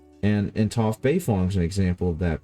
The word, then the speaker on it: Toph: So it's should in Chinese, in Mandarin, it should actually be Duofu Beifong, not Toph Beifong.